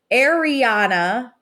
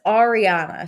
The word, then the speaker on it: Ariana: it drives me bananas how Schwarz says are Arana everyone else says Ariana say it correctly D oh my God